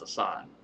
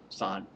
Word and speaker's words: Assange: It's Assange. Assange. That would clear how you pronounce it.